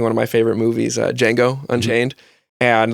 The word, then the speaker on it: Django: of my favorite movies Django Unchained and the whole D is silent thing that he has throughout